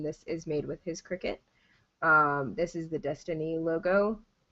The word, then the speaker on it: Cricut: Cricut. Yeah. And it's Cricut. It's pronounced Cricut.